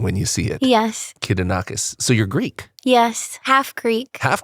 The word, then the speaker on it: Kidonakis: correctly right yes yep how do you pronounce your last name kidonakis kidonakis okay okay not too hard it just looks intimidating when you see it yes kidonakis so you're Greek yes half Greek half Greek